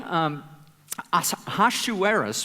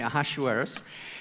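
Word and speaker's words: אחשורוש: that the this King haha shoe eres we call him in in Hebrew I I'm not sure how you how you pronounce it in English we say AHA shoe heiress he was um he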